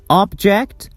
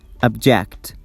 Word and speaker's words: object: So, if I stress the first syllable, it's object, and if I stress the second syllable, it is object. Object. Object is noun, object is verb.